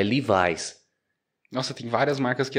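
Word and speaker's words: Levi's: marca de calça jeans não é leves lá lá é livis Nossa tem várias marcas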